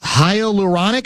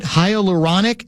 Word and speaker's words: hyaluronic: Um, apparently, uh, Winter Olympic officials are investigating the possibility that ski jumpers are injecting their penises with hyuronic, am I pronouncing that right? hyaluronic acid in order to gain extra flight, so to speak.